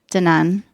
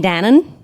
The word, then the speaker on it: Danone: long conversation about that how to pronounce danan and people say you mean Danon like no and that's a communication